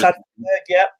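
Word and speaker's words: Sander Berge: Is that how you pronounce it? Yes, Sander Berg.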